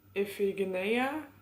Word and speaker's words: Iphigenia: miss her sacrifice daughter Iphigenia I think that's how you pronounce it in Greek I have never read